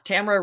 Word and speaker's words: Tamara: is that correct yes Tamera rhymes with camera good that's what yeah